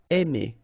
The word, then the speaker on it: aimer: Okay, remember when you combine A and I, then you get the sound E. Really open, E. Aimer.